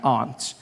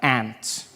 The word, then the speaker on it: aunt: For instance, I pronounce the opposites of uncle as aunt. I say my aunt. Out here you say my ant, which to me is an insect, which made me look